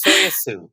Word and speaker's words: Tsoi-A-Sue: get that a lot but it's it's soya soue like soya sauce that does I will